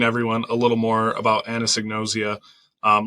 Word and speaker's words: anosognosia: allowing me to talk to you today about Anna signosia which I have pronounced now at least 10 times correctly so